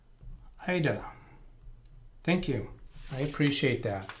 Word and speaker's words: Aida: correctly, exactly, it is Ida. Okay, the correct pronunciation is Ida. Thank you for that. I do like to pronounce people's names correctly. And even, let's see, AIDA is pronounced Ida.